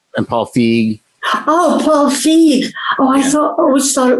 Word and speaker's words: Feig: Oh, Paul Feig. Oh, I always thought it was Feig.